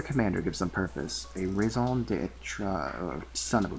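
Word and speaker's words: raison d'être: Raison. It's literally pronounced like raison. It's raison d'etre.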